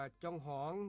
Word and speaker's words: จองหอง: ว่า จอง หอง ครับ จอง หอง เขียน จ จ จาน อ่า งู ห หีบ อ่า งู รวม กัน แล้ว อ่าน ว่า จอง หอง ครับ จอง หอง เป็น